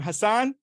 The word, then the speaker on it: Husnain: here with how do you say your name hassanan okay how are you doing I'm I'm doing